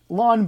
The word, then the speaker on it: ln: my initials it's the laun button if we pronounce it along like as in lawn like you mow the lawn so it's Ln and